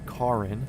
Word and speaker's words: Cairns: We're currently over Northern Australia, working our way down to Karin. That's the correct correct pronunciation.